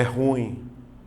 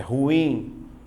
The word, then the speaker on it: ruim: esta palavrinha lembra então Cuidado para você não vacilar hoje não é ruim é ruim aí eu trabalho a regra ruim a sílaba tônica tá aqui eu regra dos hiatos